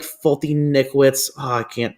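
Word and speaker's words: Foltynewicz: I like Fulton-Nickwitz. Oh, I can't pronounce his name. I think you got it right. Fulton-Nevich.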